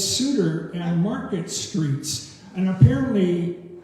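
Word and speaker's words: Seuter: And uh so but Reuben came to the corner of market and I it's spelled s e u t er but it's sudtor and market streets and apparently I mean suitor street there doesn't exist anymore um as I read it.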